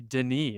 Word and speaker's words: Denis: about Dennis and his, I, I believe with one N, the French pronunciation would be Denis, right?